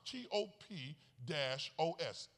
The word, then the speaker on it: topos: It's spelled just like it sounds, T-O-P-O-S, topos. It's a Greek word for place.